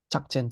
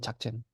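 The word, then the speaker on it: ཕྱག་ཆེན: That's why this is called chakchen. Because the rule is if there is a yatak on the second, then it becomes this sound.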